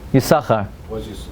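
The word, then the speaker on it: Yissachar: Yissaschar. How come they don't pronounce it the shin, the second? Why? Because the word Yissaschar has two meanings, two shins.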